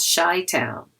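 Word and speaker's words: Chi-Town: Chicago is also called shy Town using the first three letters of its name but pronounced differently it's also often called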